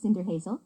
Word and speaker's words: Cinderhazel: You're right, pronounced Cinder Hazel.